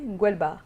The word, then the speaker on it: Ngwelba: Sur le plateau donc le nouveau Koundé Ngwelba, c'est comme ça que ça se dit, Ngwelba.